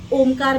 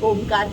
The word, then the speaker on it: ओम: तो ओम का जो उच्चारण है इसे 3 भागों में हम करते हैं, अकार, उकार और मकार।